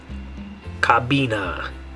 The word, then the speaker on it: cabina: Okay, so the way you say that in English, it would be the word cabin, but in Spanish, the way you're going to say it is cabina. Cabina.